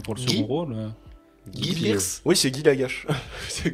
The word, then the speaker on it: Guy Pearce: Après, Guy Pearce pourrait l'avoir aussi hein, pour le Guy second rôle. Guy Pearce.